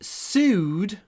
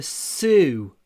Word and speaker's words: sue: She sued her former employer. To sue. Pronunciation, not sue, but su. Mouth is a little bit open. Su. Sued. And lots and lots of w in this word.